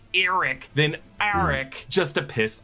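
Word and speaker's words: Arryk: my authority sir aric now I know aric and Eric are really just meant to be homophones they're both pronounced Eric but I just pronounce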